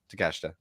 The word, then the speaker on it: Takeshita: I heard it I mispronounced it once, heard it a couple times, and I was like, okay, Takeshita.